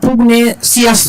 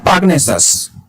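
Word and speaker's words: pugnacious: এটা পুগনেসিয়াস না, উচ্চারণটা হচ্ছে পাগনেসাস, পাগনেসাস, ঠিক আছে?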